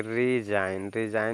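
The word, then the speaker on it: resign: लिखा है यानी कि इसमें जी साइलेंट हो जाएगा तो इसको पढ़ेंगे रिजाइन रिजाइन मींस होता है इस्तीफा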